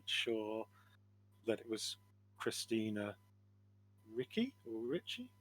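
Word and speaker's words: Ricci: I'm 98% sure that it was Christina Ricky or Richie. How do you say that? Uh Richie for pronunciation. Yeah, at least what I've heard.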